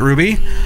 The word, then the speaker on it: RWBY: Blake and yang so Ruby technically is an acronym RWBY but they pronounce it Ruby um so they're in